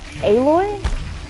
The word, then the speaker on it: Aloy: I feel like Aloy wouldn't always do every single threat, but like, see, these fuckers are like real in the way.